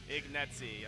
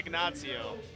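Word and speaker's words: Ignazio: next i love it ignetsy i was going to say agnazio but that's not right i always just aired to decide the italian pronunciation 270 kilos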